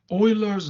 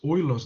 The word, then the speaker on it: Euler: is the log using euler's number e as the base what is e it's called euler's number it's not euler it's euler's number um and euler was